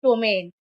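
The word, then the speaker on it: ptomaine: पी के बाद टी आया है तो पी साइलेंट होगा और उच्चारण होगा टोमेन।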